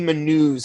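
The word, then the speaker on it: Manoux: you know one thing I notice about JP menus am I pronouncing that right yeah uh one thing I noticed about JP manu's Cusco voice is he so much faster than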